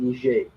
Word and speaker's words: Niger: some coup d'etat in Niger um so don't risk pronounce that one it's a soft G not a hard G same name because the